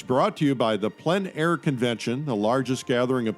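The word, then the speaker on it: plein air: means outdoors in French the French say PL air others say plain air but no matter how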